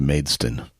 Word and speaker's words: Maidstone: So it's pronounced Maidston. Yes. Maidstone United. Maidstone.